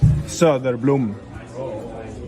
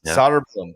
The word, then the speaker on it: Söderblom: That is Soderblom. That is the way. That is the closest way we can get to saying it correctly.